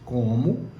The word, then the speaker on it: como: O acento tônico, ou seja, o som mais forte de como, recai sobre a primeira sílaba, tá certo?